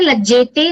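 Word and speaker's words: लज्जेते: So here lajjete, there was a slight bit of pronunciation that you need to work on. Lajjate, lajjete, lajjante, lajjase, lajjethe, lajjadve, lajje, lajjavahe, lajjamahe. So though there are two jakaras, both of them are alpa pranas, so you don't have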